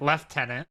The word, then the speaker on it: lieutenant: I I'm going to the British say it. Left tenant.